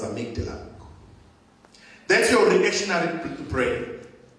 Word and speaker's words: amygdala: this way to housed it is called Amity write it down and make dinner I made the life a m y the d a uh but it's pronounced as amygdala that's your people to